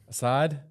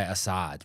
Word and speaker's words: Assad: You call this guy Assad, bro. Assad, His yeah. His name is Assad. Assad. It rhymes with more stuff when it's Assad. It's not like Assad the Bad.